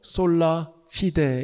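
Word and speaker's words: Sola fide: 라틴어로 솔라피데 이렇게 됩니다.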